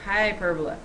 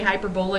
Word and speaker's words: hyperbola: Hyperbola. Okay. By the way, if you say hyperbola, you put the emphasis on the wrong syllable.